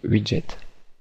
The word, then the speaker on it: wget: Enfin, on va aller sur Google et nous allons taper WGE, prononcer Widget.